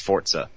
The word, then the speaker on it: Forza: um or Forza or Forza as they all say now uh um but I know that they're saying not not the kids the official marketing people are saying it's Forza that's how it's pronounced I was saying it's